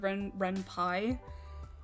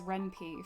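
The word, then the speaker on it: Ren'Py: i i my um when i first discovered renpi as a kid my friends and i mispronounced it as renpe for the longest time senpai is genius should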